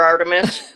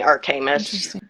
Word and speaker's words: Artemis: Artemis is the more common pronunciation and it's the pronunciation for the goddess and I was named after Artemis, but my mom always called me Artamus and it's a whole long convoluted story.